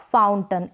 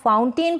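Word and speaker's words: fountain: तो इसको प्रोनाउंस करेंगे आप माउंटेन, सर्टन, विलन, कर्टन और फाउंटेन। इस तरीके से आप अगर इसको माउंटेन, सर्टेन, विलेन, कर्टेन और फाउंटेन प्रोनाउंस करते हैं तो ये करेक्ट प्रोनाउंसिएशन नहीं होगा।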